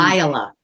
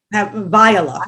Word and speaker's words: Viola: And if they started with scene 2, at least in my mind, is it Viola or Viola? How do we pronounce her name? Viola. Viola, thank you. Like Violet. Viola is the like Violet.